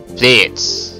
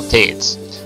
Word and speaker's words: Pleiades: Pleiades is how she pronounced it, so Pleiades.